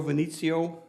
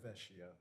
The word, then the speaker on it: Vecchio: Joe Venezio, Vecchio. dang it, am I saying your name right? Joe Vecchio. Vecchio.